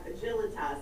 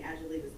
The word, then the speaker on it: Agilitas: I'm gonna say it right this time, Agilitas, I keep on saying Agilitas, putting the accent in the wrong space.